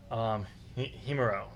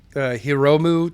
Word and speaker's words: Hiromu: they're going to go with Himuro. It's Hiro. How do you say his name? Hold on. Hiromu Takahashi.